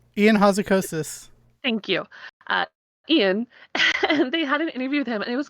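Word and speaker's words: Ion Hazzikostas: did an interview with in house a Custis I said it wrong enough close enough Ian Houser kosis Thank You Ian it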